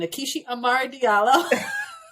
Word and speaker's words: Nkechi Amare Diallo: on her name and we better learn how to say it it is assistant nakishi Amari Diallo it tickles me no